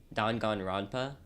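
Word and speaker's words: Danganronpa: called um I'm going to butcher this it's pronounced dongan Rona okay um and it's the concept of the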